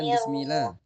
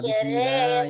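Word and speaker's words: بسم الله: Bismillah. Itu jangan bismillah tapi bismillah. Tasdid lamnya. Bismillah.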